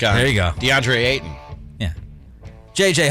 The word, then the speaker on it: Ayton: youtube he says uh nick you can't seem to pronounce ayton's last name properly there's a t in there so he wants me